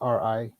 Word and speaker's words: Rikus: That's Rikus or Rikus. I don't know how you pronounce it. It's Rikus. All right.